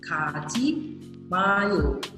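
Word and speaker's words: 가지마: Ka, ji, ma. Nah, banyak yang ngerti nih artinya, jangan pergi. Nah, ini kita ulang lagi ya bacanya ya. Ka, ji, ji-nya pakai J biasa. Terus ada ma.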